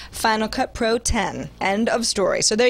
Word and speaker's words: Final Cut Pro X: was how he chose to say it, being pronounced Final Cut Pro X, it turns out that's wrong. Apple told me today at its London headquarters it's pronounced Final Cut Pro 10.